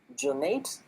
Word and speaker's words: Jonate: And I just realized, sorry, I pronounced one of your name incorrectly. It's supposed to be Jonate.